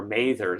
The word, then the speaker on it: Mather: And the same thing is true, by the way, of Cotton Mather, or Mather, somebody told me, who says he's related, it should be pronounced.